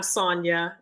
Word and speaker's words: Sonja: Hey, yeah, you said right the second time, Sonja.